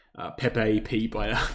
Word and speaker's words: Pepe: People always mock me for for saying it wrong. I call it peep. I don't know why. It's just an addiction that I have. Apparently, it's Pepe or something like that.